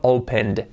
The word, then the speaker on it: opened: Aunque se escribe opened, escrito lo que digo siempre se añade ed, pero al pronunciarlo opened, un sonido D.